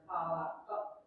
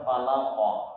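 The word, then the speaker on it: فلق: Yang kola itu ada yang falakot gitu. Itu keliru. Yang benar falaqah karena itu huruf qaf.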